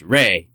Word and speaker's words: Re: Ra is sometimes A-E and pronounced Re.